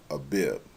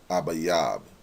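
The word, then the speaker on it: אביב: Aviv Aviv and really it's not a bib or ivive that's not how you pronounce it it will be abayab ayab that's how you will pronounce it in the uh paleo Hebrew or the ancient tongue abayab and what does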